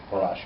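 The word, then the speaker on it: פרש: Paresh, it means quit. He quit. He quit would be who, how do you pronounce it? Parash? Parash, okay.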